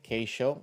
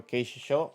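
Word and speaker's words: Keishichō: an excuse my accent I normally see K show from Tokyo Keisha show I didn't that's how you pronounce it more correctly but uh it's a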